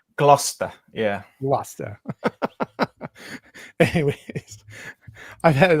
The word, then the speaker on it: Gloucester: It's Gloucester. Yeah. Gloucester. Anyways, I've had a lot of comments about my pronunciation of British places and authors.